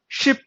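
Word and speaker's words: ship: शीप नहीं पढ़ेंगे, उसे शीप पढ़ेंगे तो भेड़िया बन जाएगा, ठीक है। शीप, शीप की जो प्रोनाउंसिएशन होती है उसका मतलब होता है भेड़िया, ठीक है। और शिप होती है उसका मतलब होता है जहाज। तो दोनों में फर्क है।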